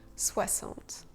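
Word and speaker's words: soixante: Le X de 60 se prononce SE. 60.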